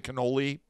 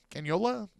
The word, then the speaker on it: cannula: I want to say cannoli. Why do I don't know. Cannula.